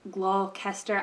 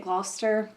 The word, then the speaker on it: Gloucester: right on the corner like across from the glow Kester I don't know how to say it Gloucester Gloucester is Gloucester Gloucester Green Market so like